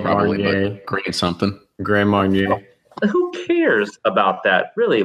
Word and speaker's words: Grand Marnier: Grand Marnier.